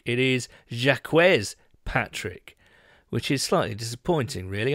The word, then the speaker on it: Jacques Patrick: not least that uh the correct way to pronounce jacques patrick is not a jack patrick it is jacquez patrick which is slightly disappointing really i came with